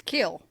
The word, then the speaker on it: kiln: No, you pronounce a kin or something like that. Kill. It's kill.